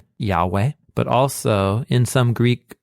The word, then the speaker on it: Yahweh: out all the evidence for why Yahweh is the most original form of the pronunciation one is in this